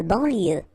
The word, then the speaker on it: banlieue: De banlieue. Okay, final E not pronounced. So I-E-U, I-E, L, banlieue.